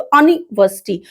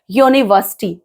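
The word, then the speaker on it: university: हम पढ़ते हैं अम्ब्रेला, तो अनिवर्सिटी, तो हम जाहिर सी बात है एन लगा देते हैं, लेकिन इसको हम बोलते क्या है, क्या प्रोनाउंस करते हैं, यूनिवर्सिटी, यू की साउंडिंग आ रही है, वाई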